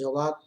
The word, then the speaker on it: Jawad: intensified further into cyclonic storm Jawad, pronounced as Jawad, and lay centered at 11:30